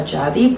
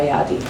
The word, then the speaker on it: Jadi: So technically you pronounce it in English as Jadi, but actually it's like Yadi.